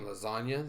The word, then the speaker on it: lasagna: For all of you who don't know what it means, there's a G in lasagna that is silent.